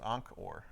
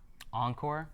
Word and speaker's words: Ankh'or: So I thought this was the Southeast Asian city, but I think it's Ankh'or. Encore? Oh, okay. It's an Ankh because it's Egyptian.